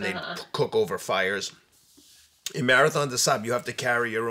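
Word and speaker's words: Marathon des Sables: And at Marathon de Sahab, it's spelled DESSABLES for people listening. Marathon de Sahab is the French pronunciation.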